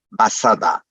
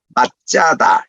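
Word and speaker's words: מצדה: 이렇게 표현한 것도 편의상인데, 원칙으로 말하면 이게 사디니까 TS 발음이에요. 그러니까 짜 이런 발음이 납니다. 그러니까 맛짜다, 요게 이제 정확한 발음이에요.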